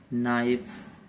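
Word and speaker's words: knife: जैसे कि नाइफ, अब के का कोई काम नहीं है इसमें बोलने में।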